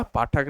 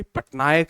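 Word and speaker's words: Pattnaik: इनका पाठक नहीं है। सॉरी मैं प्रोनाउंसिएशन इसकी पटनायक है।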